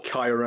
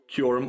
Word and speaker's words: Kyurem: And again, there was Kyurem as well. Kyurem or Kyurem.